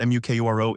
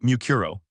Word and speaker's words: Mukuro: It's not Mukoro, is it? You have a real name, right? Mukuro.